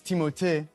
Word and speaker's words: Timothée: star finally reveals we've been saying his name wrong the whole time. Honestly, it's Timothée, but I would not oblige you to say it like that.